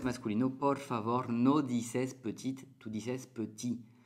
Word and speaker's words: petit: femenino, sí puedes decir petite. Pero cuando es masculino, por favor, no dices petite, tú dices petit. La T que se escribe no suena al masculino. Petit, petit, solamente.